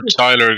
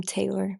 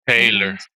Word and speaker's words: Taylor: below that posting for Tyler guys. Posting this for t I'm am I saying it right? Tyler am I? It's um Taylor but it's cool Taylor.